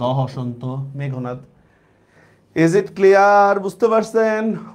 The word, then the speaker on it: মেঘনাদ: আমরা কিন্তু মেঘনাদ বলি যদি অনেকে, এটা হচ্ছে মেঘনাদ। তাহলে কি হবে? ম ম একার ঘ ওকার ন আকার দ হসন্ত, মেঘনাদ।